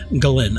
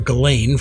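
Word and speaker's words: Ghislaine: By the way, that is the correct pronunciation. Galen. I I used to know a Galen in college. I called her Galain for quite a long time until she corrected me.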